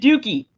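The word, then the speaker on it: Douki: boy Jack Perry defeated dookie in the main event uh that I'm not reading that wrong his name is d-o-u-k-i and it is pronounced dookie so so but jungle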